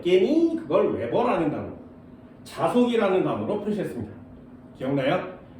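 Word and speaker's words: weber: WB라고 쓰고 웨버라고 읽어요.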